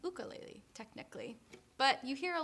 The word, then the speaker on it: ukulele: a ukulele but if you're in Hawaii it's pronounced buco lately technically but you hear a lot of people pronounce it ukulele so don't apologize but try and say it